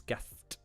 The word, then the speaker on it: Gast: Now, of course, he didn't reference it today, but Young Biz O Bond was kind enough to go His name's not Gas, it's Gast.